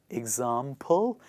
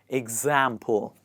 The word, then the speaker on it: example: It is not example, it is example. So, example. Please repeat after me. Ig. It starts with ig, not ex.